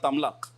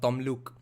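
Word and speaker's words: Tamluk: Yeah, Bengali pride people will now get pissed off with the non-Bengali Harsh Madhusudan for pronouncing it as Tamlak and not Tomluk.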